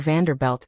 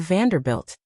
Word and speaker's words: Vanderbilt: Another time you mispronounced a tycoon's name in a speech, calling him Mr. Vanderbelt instead of Vanderbilt.